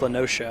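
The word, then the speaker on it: La Noscea: Final Fantasy XIV, and there's a town that's spelled L-A, or an area that's spelled L-A dash N-O-S-C-E-A. And I was like, okay, that's La Nocia. And Matt was like, oh, it's La Nocia. I was like, shit, that's probably right. It's like ocean.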